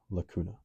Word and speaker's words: lacuna: Cradle, pronounced lacuna.